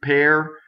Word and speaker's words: per: Per, does not rhyme with the fruit. Per, pe, r.